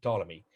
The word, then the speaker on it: Ptolemy: the second century a.d ptolemy you don't pretend you don't uh pronounce his let his first letter p just say ptolemy but i see it